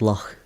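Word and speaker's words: loch: The ch is a the lock. The C is a much more softer sounding letter within Scots.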